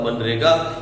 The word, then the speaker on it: MGNREGA: ये एक scheme government ने स्टार्ट की थी जिसका नाम था मनरेगा। इसमें जी साइलेंट है, बेसिकली ये है MGNREGA, मनरेगा। हम इसे पढ़ते हैं एम से बाद सीधा एन, मनरेगा।